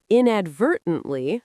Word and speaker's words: inadvertently: And inadvertently stresses the second syllable. Inadvertently.